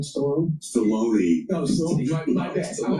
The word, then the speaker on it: Stallone: Guys, Sylvester Stallone, that's how you say it, right? Stallone? Stallone.